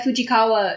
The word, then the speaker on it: Fujikawa: Well, yeah, Fujikawa is the name of something in one of my favorite animes.